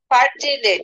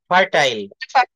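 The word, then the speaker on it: fertile: অনেক হ্যাঁ হ্যাঁ মেক দা ল্যান্ড এটার উচ্চারণ কি হবে ফার্টিলেট ফার্টিলেট না হ্যা ফার্টাইল এফই আর টি আই এলই ফার্টাইল বানানটা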